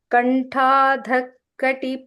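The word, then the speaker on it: कण्ठाधःकटि: So that visarga, if it is before a ka, we just pronounce it as half ka. Okay. So it is kantadhakkati anganatha pronunciation.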